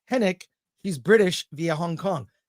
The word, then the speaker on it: Henwick: go Allan hin says says henwick is actually pronounced henck she's British via Hong Kong thank you Alan